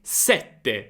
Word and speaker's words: sette: Ok, è sette sette.